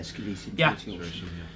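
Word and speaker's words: Sceletium tortuosum: you don't really see in pre-workout, things like Scillium tortosum. Am I pronouncing that correct, Dino? Yeah, Scillium tortosum.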